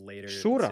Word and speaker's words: Шура: Шура, вроде на первый слог ударения, если по-английски.